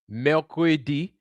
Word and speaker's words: mercredi: Mercredi is how you say it in French.